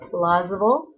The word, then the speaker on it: plausible: last word is plausible everybody say plausible it's plausable plausible three syllables if something is plausible